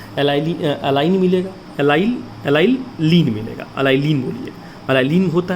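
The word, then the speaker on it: allylene: मैं लिख देता हूँ यहाँ पर स्पेलिंग, अगर आपको नहीं समझ में आ रही होगी तो एलाइन मिलेगा, एलाइलीन मिलेगा, एलाइलीन बोलिए, एलाइलीन होता है।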